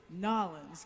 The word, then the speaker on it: New Orleans: And the correct way to say this is Nolans, correct? Yeah, I guess. New Orleans. Nolans. Nolans. Yeah, if you're from New Orleans, they say Nolans. But you got to be from there to know how to say it the right way.